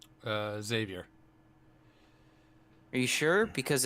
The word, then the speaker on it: Xavier: Is it Xavier or Javier? Xavier.